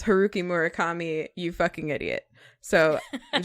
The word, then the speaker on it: Haruki Murakami: name, I'm sure that he would say it's Haruki Murakami, you fucking idiot.